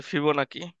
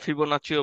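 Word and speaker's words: Fibonacci: এটাকে বলে ইংলিশে ফিবোনাকি। অনেক জায়গায় ফিবোনাচিও বলে।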